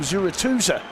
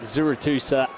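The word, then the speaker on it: Zurutuza: the end by Ry I'll have to bow to your Superior bask pronunciation I always called him zurza well I'm sure he'd accept it in any way POS th zusa fact is he's starting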